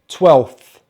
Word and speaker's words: twelfth: and then the e we have the f sound and then the th sound twelve twelve 12th 12th so unlucky for